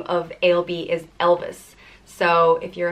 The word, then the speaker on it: Ailbe: The next name is Ailbe, and it means white hawk or intelligent or noble, and it's pronounced Ailbe or Ailbe.